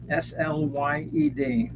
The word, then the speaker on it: Slade: Okay, Slade's third album is called Slade, Slyd, like I've been slayed.